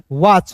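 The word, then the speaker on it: watch: वही ये है तो डब्ल्यू ए टीसी एच को क्या पढ़ेंगे दोस्तों वाच पढ़ेंगे क्लियर है तो चलिए दोस्तों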